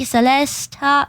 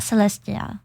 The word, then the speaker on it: Celesta: and it was Mii Celesta Celesta Celesta not Celestia I someone I there was